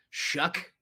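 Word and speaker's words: Shough: Yeah, Shook. Did not realize that's how that was pronounced.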